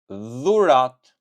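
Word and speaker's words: dhuratë: And then on the other hand, we have letter D plus H, which in Albanian you can pronounce it this way. The, the, the. For example, gift, dhurat, dhurat, dhurat.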